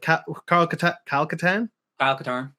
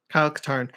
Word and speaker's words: Kyle Katarn: that we you know there was the calcutan AL Qatar Kyle katarn so those syllables are right they're the wrong order um you know like